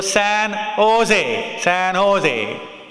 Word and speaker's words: San Jose: The J is said as, pronounced as H. So San Jose.